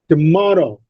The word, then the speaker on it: tomorrow: Tomorrow, more, the second syllable is stressed. T and ro in tomorrow are not stressed.